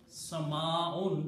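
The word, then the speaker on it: سماء: Sama'un, the full word is sky. And the Arabic full word is Sama'un. You have to completely pronounce the word with the last two dhammas, sound of noon.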